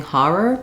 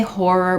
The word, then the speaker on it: horror: Again, if you're living somewhere where everyone is saying har-er, then go ahead and say har-er. The difference is just more of an R, not as much rounding in that first syllable for the letters OR.